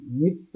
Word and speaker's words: নৃত্য: হ্যাঁ, ওই তো ট্রিল না থাকার কারণেই এই নৃ উচ্চারণ হচ্ছে না। অতএব ট্রিল বেশি বেশি করতে হবে, জিভ পাতলা করতে হবে, ট্রিল। তাহলেই নৃ উচ্চারণ হবে, নৃ এটা নৃ হুম, নৃ।